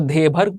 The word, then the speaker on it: धेबर: ठीक है, अलग अलग लोग इसको अलग तरीके से प्रोनाउंस करते हैं। कुछ लोग इसको देभर कमीशन बोलते हैं, कुछ लोग इसको धेबर कमीशन बोलते हैं, कुछ लोग इसको ढेबर कमीशन बोलते हैं।